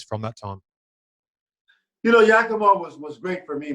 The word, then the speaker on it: Yakima: with was the yakima sun kings have i pronounced that right yakima yeah yeah okay of the continental basketball association